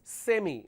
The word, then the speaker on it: semi: s e m okay this is pronounced as semi we all say semi final right so Americans don't say semi they say semi this I it carries a function of e but they replay with I so they say semifinal